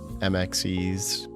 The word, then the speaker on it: Mxeaez: Honestly, when I came up with it, I didn't really think of how to pronounce it, but nowadays it's usually just like or MXes. What the hell, or MXD's nuts.